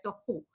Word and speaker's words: tohu: Más que la gramática es cómo se pronuncia, tohu.